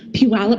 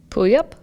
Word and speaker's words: Puyallup: So we got the pronunciation. It's Puyallup? No, Puyallup. Oh. I believe Puyallup.